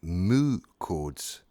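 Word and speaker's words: mu chords: Incidentally, moo chords, that is spelled M-U.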